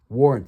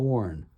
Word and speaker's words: Warrant: on hand for um warrant warrant that's w a r a n t not warren. Warren is spelled w a r r e n but these guys are called warrant publications.